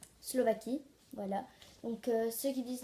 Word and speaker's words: Slovaquie: Il y a des gens, ils disent la Slovaquia. Et en fait, c'est la Slovaquie. Voilà. Donc, ceux qui disent la Slovaquia, c'est la Slovaquie. Donc, c'est la Slovaquie.